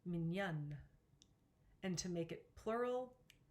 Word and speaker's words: mignonne: However, to make it feminine, you double the letter N. This also changes the pronunciation, mignonne.